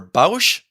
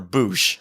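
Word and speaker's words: Bossk: Do you pronounce the bounty hunter Bausch or Boosh?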